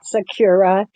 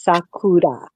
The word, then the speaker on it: Sakura: It is not Sakura. It is Sakura. Okay, oh, Japanese. Sakura. Sakura. Nope, not Kura. No, like that. Roll your R.